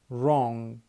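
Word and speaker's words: wrong: التانيه الدبليو لو جاي بعدها ار برضو مش هننطق الدبليو الدبليو تعتبر ايه سايلنت زي كلمه رايت رايت اللي هي يكتب رون رون اللي هي خطا راب راب راب يلف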